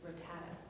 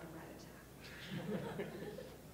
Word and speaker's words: Rattata: It's Rattata, not Rattata.